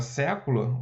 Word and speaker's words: século: Você vê que pela tonicidade da palavra século, olha o que aconteceu aqui, ó. Palavra século é uma palavra proparoxítona. Olha onde caiu a acentuação. Na antepenúltima sílaba.